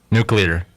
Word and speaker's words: nuclear: way say that again nuclear nuclear yeah like new like nucleus nuclear what am I